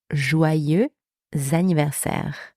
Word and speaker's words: joyeux anniversaire: To say happy birthday in French, we say joyeux anniversaire. Happy birthday. Joyeux anniversaire. Joyeux anniversaire. So that's the first expression. You can also say bon anniversaire, which means the exact same thing. So you've got joyeux anniversaire and bon anniversaire.